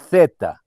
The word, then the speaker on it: zeta: E se pronuncia colocando a língua nos dentes. Zeta, zeta.